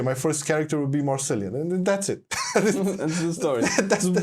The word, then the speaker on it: Marcelian: Hey, and they couldn't pronounce it, or Marceline, or Marceline. Yeah, I don't know why that's difficult, because it doesn't sound like it'd be hard to be pronounced in English. I don't know. I heard Marcelina, Marcelina. No.